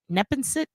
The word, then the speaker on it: Neponset: Neponset?